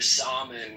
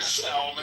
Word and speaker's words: salmon: So Yeah, it doesn't, mother, stop eating your salmon with your chamomile. It's your salmon. In Spanish, we say salmon. So the L is pronounced in Spanish.